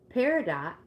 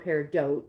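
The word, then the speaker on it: peridot: Paradot or paridote depending on how you pronounce it is traditionally used by healers to maintain their own health.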